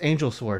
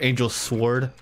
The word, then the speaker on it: Angel Sward: screen Oh your name's angel swar thank you for the dennis pronounced it's Ward Thank You angel sward where's the whole like